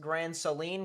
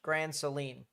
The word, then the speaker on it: Grand Saline: Uh, it's pronounced Grand Seline. Gotcha. Grand Seline.